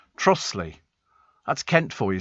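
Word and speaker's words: Trottiscliffe: So not too far from Ruthen is Trotter's Cliff, pronounced Trossley.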